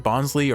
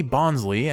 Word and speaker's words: Bonsly: you a nickname now when we see bonley and we think of bonsai maybe that's why it's pronounced bons cuz it's Bonsai it's based on the bonsai tree uh but we're just